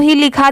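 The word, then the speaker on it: whole: एच ओ एल ई एक देखिए यह भी होल होता है और एक यह भी दोनों ही लिखा जाता है जैसे अगर कहीं पर यह लिखा रहा डब्लू एओ एल ई तो इसे भी होल ही पढ़ा जाता है और जैसे यहां पर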